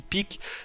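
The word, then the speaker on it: Pieck: alors je sais pas, peut-être que vous prononcez Piek, mais moi je dis Pic, qui est infiltré dans l'île du paradis.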